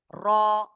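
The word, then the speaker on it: ر: এই অক্ষরের নাম হলো র। এই অক্ষরের নাম কি? র। ঠিক আছে, তো এই অক্ষরটা কিভাবে উচ্চারণ করতে হবে? জিহ্বার আগার পিঠ তারপর আবার উপরে তালুর সাথে লাগিয়ে আমরা এই অক্ষরটা উচ্চারণ করব।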